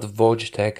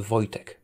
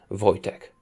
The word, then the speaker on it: Wojtek: the achievement gained Wojtek s commander it's not Vortech it's not Vash tag it's a Vojtech you can pronounce it as boy as an vo y - tech as in technology Wojtek that is as close as you'll get to